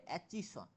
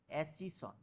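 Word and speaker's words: Aitchison: commission গঠন করে হলো এটাকে উচ্চারণটা হবে অ্যাচিসন এরকম ভাবে অ্যাচিসন অ্যাচিসন কমিশন গঠন করছেন এবার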